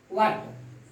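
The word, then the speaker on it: what: जब भी डब्ल्यू एच के बाद ई आई और वाई आता है तो एच का प्रोनाउंसिएशन नहीं होता है, एच का प्रोनाउंसिएशन नहीं होता है। जैसे वाट, एच का ये साइलेंट हो जाता है, वाट।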